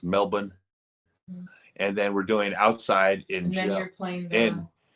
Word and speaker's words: Melbourne: Canberra in Melbourne Melbourne they don't pronounced their R's Melbourne and then we're doing